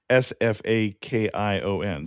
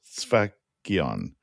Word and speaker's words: Sfakion: The word we've been saying here is Sfakion, so Sfakion. Sounds better than my pronunciation.